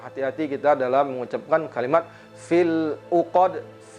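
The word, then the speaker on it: فِي الْعُقَدِ: Nah, hati-hati kita dalam mengucapkan kalimat fil 'uqad. Kemudian di sini ada qalqalah pada huruf dal.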